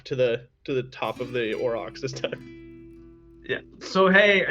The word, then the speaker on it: aurochs: Aurochs, right? It's like a huge bison. Aurochs? I don't know. And then he turns in like, Aurochs, that's it, thank you.